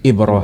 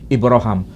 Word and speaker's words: Ibrahim: Tapi cara pelafalan diizinkan oleh Nabi dilafalkan dengan cara baca Ibrahim dengan cara baca Ibrahim.